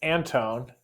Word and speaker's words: Anton: Is it Anton or Anton? It's Anton. And that's the main reason I am here to to officially correct the pronunciation of my name.